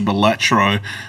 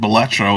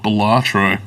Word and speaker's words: Balatro: a good link to Balatro. And I've been told you have to pronounce it Balatro. It's not Balatro. Balatro.